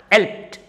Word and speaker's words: helped: k e d blocked so in all these words ending with e d and monosyllabic words that ed is pronounced as ta walked talked helped packed